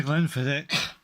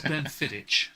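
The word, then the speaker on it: Glenfiddich: to say it again I like to Glenn fidic that's right yes you do it's Glen fit just to be clear I'm keep saying it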